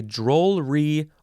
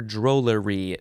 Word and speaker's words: drollery: okay drollery is next you can say drool re or drollery two syllables three syllables noun from 1597 one